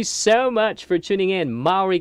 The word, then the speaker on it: Maury: much for tuning in maury county that's how they pronounce it there 12 20.